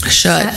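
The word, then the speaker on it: Schutt: How do you say that vendor name? Shut. That's correct. It is Shut.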